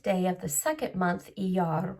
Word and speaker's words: Iyar: Iyar. There's a little r at the end.